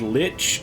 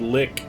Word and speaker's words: lich: a sorcerous lick Escape I can't get over that pronunciation I've never heard that pronunciation before I've heard Lich and I've heard lick I've never heard l or the way he's doing it where is he's like pronouncing it like Li and that is the